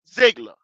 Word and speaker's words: Ziegler: Hey, they got rid of Josh McDaniels and Ziegler. That's how you pronounce his name.